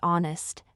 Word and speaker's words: honest: in other words too yes in words like hour and honest the H is silent I always pronounced honest